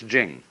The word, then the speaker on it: jing: it's pronounced d and jing. There is no apostrophe after the ch. So if there were it would be pronouncedqing but it's jing like a j.